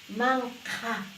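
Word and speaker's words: manqha: Man-ka, man-ka, man-ka, con la H expirada.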